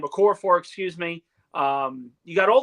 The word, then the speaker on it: Okorafor: Max Mitchell, Josh Myers, Carter Warren, Okua. I completely butchered his name. Okorafor, excuse me.